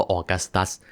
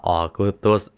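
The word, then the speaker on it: Augustus: ได้ จักรพัน องค์ แรก ที่ ชื่อ ว่า ออกัสตัส หรือ ว่า ออก อุตุส เอา เป็น ว่า อ่าน ว่า ออกัสตัส แล้ว กัน แล้ว ก็ เปลี่ยน จาก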